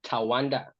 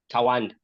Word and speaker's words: Tawanda: I like people to pronounce it like it's Tawanda. Tawanda. Yeah, Tawanda is how you say it, like in my language, Shona.